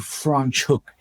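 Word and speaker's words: Franschhoek: So the name of the town is called Franch Hook. Um it's it's it's difficult to pronounce because it's actually a Dutch name.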